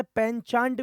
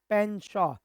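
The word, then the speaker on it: penchant: जी हां, कई जगह इसे पनचांट भी बोलते हैं। लेकिन इसमें टी होता है साइलेंट। इसका सही प्रोनंसिएशन होता है पेनशो।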